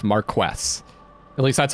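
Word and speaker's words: Marquess: I did some research and some of you gave me some uh tips on how to pronounce that. So, it's Marquest.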